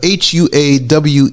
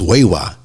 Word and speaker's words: Huawei: or satellite phones yes now how do you say it it's a Hua Wei I think it's wewa it's not Huawei like